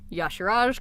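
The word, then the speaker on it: Y'Shaarj: that that were kind of sent to Azeroth Yash Raj c'thun youngster owned and nosov and I researched how to say Yoshi Rajesh because look how that's spelt you sure jet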